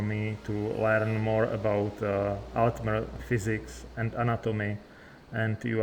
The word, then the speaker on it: Altmer: So, would it be right to say that Altmer is my pronunciation correct for you? I'm not quite right, my eager student. It's Altmer, to clear syllables like singing a high note followed by the rippling of water.